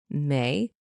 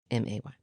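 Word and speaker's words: Mei: So I looked down to see our other cat, May. Oh, good. It's spelled M-E-I, but pronounced M-A-Y.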